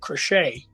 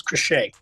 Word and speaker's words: Crochet: And a guy that we were looking at, Garrett Crochet. Is that how you say his name? Has signed with the Red Sox. Yeah, it's Crochet.